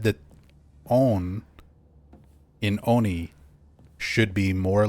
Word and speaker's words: oni: But one of the first things you ever corrected me on was my pronunciation of the word oni.